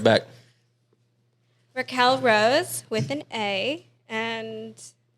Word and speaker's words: Raquel: there's an e like q-u-e-a-l Raquel Raquel it's just Raquel but it's Elliott's jeans